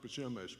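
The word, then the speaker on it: Przemyśl: the border we head to the town of pashemish and uh i'd love to uh just spell this word for you it's pronounced bashimish but it's spelled p r uh z z-e-m-y-s-l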